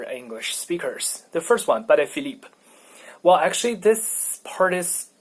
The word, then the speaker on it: Patek Philippe: The first one, Patek, comes from, I guess it's a Polish name, so I don't know how to pronounce it in Polish. Patek, whatever. And the second part is a French family name, so it's Philippe.